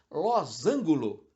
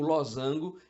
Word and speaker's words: losango: a palavra lozango que tem gente que prefere complicar e falar losângulo na certa influenciado pelo fato de que o losango é uma figura geométrica e por Associação a ângulo existem palavras que às